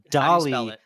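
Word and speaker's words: DALL-E: is a thing called Dolly kind of like Salvador Dolly but spelled like Wall-E with a d so it's Dolly so d a l l- e Dolly right okay and this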